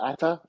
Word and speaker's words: Ata: Ata? Am I pronouncing that correctly?